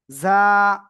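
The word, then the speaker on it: ظاء: যা। যা। জিহ্বার আগার সামনে নিচে দুই দাঁতের পেটও আগার সাথে লাগান, লাগান, লাগান। লাগিয়ে একটু নরম আওয়াজে আপনার উচ্চারণ করতে হবে।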